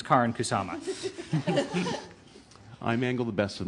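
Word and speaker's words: Karyn Kusama: to protect my director and her name is Karin kusama and I don't care if you know even even in Canadian it's Karin kusama I mangle the best of names um so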